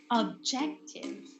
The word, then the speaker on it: objective: these words stress okay some commonly messed words are objective okay it's objective and not objective okay you see if you stress the incorrect syllable the pronunciation is already incorrect so okay remember it's objective not objective practice also practice it's